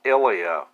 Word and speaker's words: Ilya: Oh, okay, so apparently I've been pronouncing his name wrong. It's Ilya.